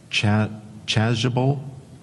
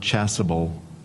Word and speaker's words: chasuble: It could also be pronounced chasuble or chasuble.